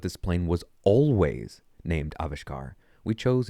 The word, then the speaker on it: Avishkar: We discussed the pros and cons of each of the candidate names and worked through their pronunciations, meanings, and connotations. Together, we selected, how do you say this again? Avishkar.